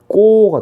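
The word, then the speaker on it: 읊고: 그 다음에 을고는 어떻게 발음될까? 얘는 을고가 아니고 읍다. 비읍, 읍고가 됩니다. 읍고. 그래서 리을 피읍은 비읍으로 소리가 납니다.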